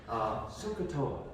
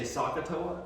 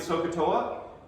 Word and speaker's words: SOHCAHTOA: SOHCAHTOA, right? And I always wanted to say SOHCAHTOA because I thought it was a short O.